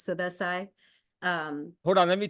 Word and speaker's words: Sudha Sai: so my name is suda Sai I also go by well the proper way to say it I guess but I don't force it is sudai um hold on let